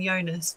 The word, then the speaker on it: Jonas: by Jonas Jonas and I think you pronounce his name Jonas because it's Swedish and um he wrote